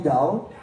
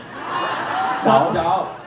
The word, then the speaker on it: Daou: Because most of people always call me Dao. Dao. So I will teach you, okay? Yeah. It's like TH sound, like fart, like ba.